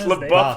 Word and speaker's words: LaBeouf: Shia LaBeouf. Shia LaBeouf? It's LaBeouf, you fucking idiot. Whatever. That's more conceding. It's like, like oh, Canadian I'm buff. over here. Shia LaBeouf. Okay, well, Shia LaBeouf.